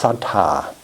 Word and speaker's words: saddha: The word trust, the word faith, in Pali it's saddha. It's called saddha. Some of you may have heard that term, saddha. Saddha has that two syllables, sad and da, D-H-A.